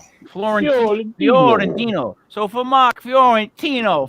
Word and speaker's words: Fiorentino: Let's do the Italian pronunciation of how I would do it. And it's Fiorentino, right? Fiorentino.